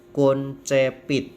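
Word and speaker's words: concepit: Anto concept id Hai C diikuti oleh dibaca k&c diikuti Edi baca tetap c maka concept it yang lain biasa I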